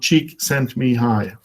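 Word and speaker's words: Csikszentmihalyi: and then it's hi so to pronounce his name actually is a very easy way it is called cheek sent me hi this person has found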